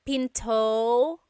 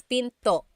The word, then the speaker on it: pinto: p p and remember don't forget the glot stop don't forget to stop the sound at the end that's called a gladle stop p Pinto it's not Pinto it's Pinto stop it at the